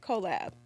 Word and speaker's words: cOHllab: Okay, cOHllab.